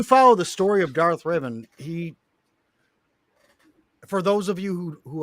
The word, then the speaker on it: Revan: Go back to the days of Darth Revan. Yes. And Thank you for pronouncing that Preach.